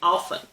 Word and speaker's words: often: medial T it reinforces my way of saying often I say often in other words with the medial T are listen hasten glisten soften and fasten I can't think of a single person who pronounces the T in these words otherwise we'd be hearing listen Heston or hasten glisten soften and fasten I don't know about you but that would drive me nuts I found the word